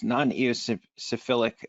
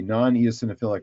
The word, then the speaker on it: non-eosinophilic: going to mispronounce this nonos syphilic asthma do you know the rough percentage of of asmatics that are non EOS syphilic sorry dis pronounce that that's okay non eosinophilic right well um I don't